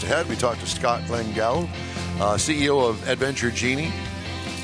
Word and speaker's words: Lengal: pronounced it perfectly well done how did I pronounce it you said LEL Scott langel okay I just wanted to make sure all